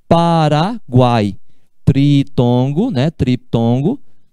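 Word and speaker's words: Paraguay: É diferente de falar Paraguai. Paraguai. Guai é uma sílaba só.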